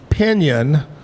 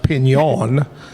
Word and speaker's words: Pignon: We had Pinion, but she said it's actually pronounced Pignon.